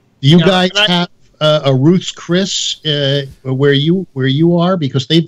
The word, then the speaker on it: Ruth's Chris: They go Ruth's Chris's, but it's Ruth's Chris.